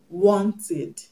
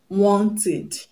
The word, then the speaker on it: wanted: For example, wanted, wanted. The past tense marker is ED and it's pronounced ED, ED, wanted, because the root word want ends with the sound T, T.